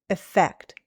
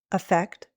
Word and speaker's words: effect: The second word, which is written with an E, is usually said with a short I sound, effect. But sometimes American English speakers will use a schwa, effect, or even a long E, effect.